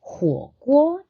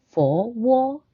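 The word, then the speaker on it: 火锅: In Chinese, the characters are fire, which is huo, and then pot is guo. So huo guo is hot pot. Now in Cantonese, it's fo wo. So same Chinese characters, they're just pronounced a little bit differently.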